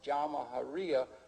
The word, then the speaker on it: Jamahiriya: You'll hear Colonel Qaddafi talk about the Jamahiriya, pronounced Jamahiriya, which roughly translates, in an Arabic term, which roughly translates out the state of the masses.